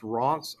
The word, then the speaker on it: Reims: to Reims Cathedral, or it's pronounced Ronce, Ronce, but it's spelled Reims. Fun fact, I grew up on a street called Reims in Houston, and my whole life I pronounced it Reims.